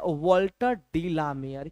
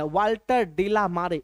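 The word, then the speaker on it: Walter de la Mare: ना वाल्टर डिला मेयर बहुत सारे बच्चे तो इसको प्रोनाउंस ही गलत तरीके से करते हैं वाल्टर डीला मारे ना ना ना वाल्टर डिला मेयर वाल्टर डीला मेयर गटना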